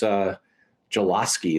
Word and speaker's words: Solosky: So it's Soloski. Is that how do you pronounce it? That's it.